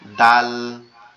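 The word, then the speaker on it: د: দালটা হচ্ছে আমাদের জিহ্বার আগা। উপরের দুই দাঁতের গোড়ার সঙ্গে লাগবে। জিহ্বার আগাটা উপরের দুই দাঁতের গোড়ার সঙ্গে লাগবে। লেগে উচ্চারিত হবে ডাল ডাল ডাল আর যেটা জাল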